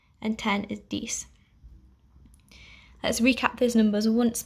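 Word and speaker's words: dix: nine is nuff and ten is dece i'll do that once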